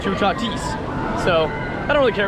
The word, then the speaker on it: Toutatis: might be like why are you calling it t tatis it's tatis well actually um our our friend Antonio uh it's a professor and he told us it is in fact pronounced chatis so I don't really care what you call